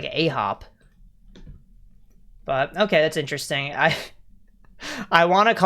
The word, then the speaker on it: AHOF: Oh, it's Ahop. What? Yeah. Yeah, so it's like the word for 9 in Korean, but they do an F instead of a B.